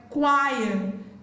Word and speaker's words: choir: Letter H is silent in the word choir, exhaust, ghost, air, not hair, not higher.